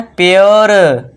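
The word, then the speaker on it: pure: यू के बाद आर E, normally आप सिंपल सा रूल लिख लीजिए, you plus R ई is equal two ओ, आप इतना लिख सकते हो शॉर्ट में याद रखने के लिए। तो इसे क्या पढ़ेंगे? प्योर, श्योर।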